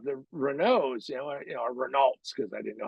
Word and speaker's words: Renault: turned out to be Renault which is the right way to say it Americans would say Renault but Renault dolphines and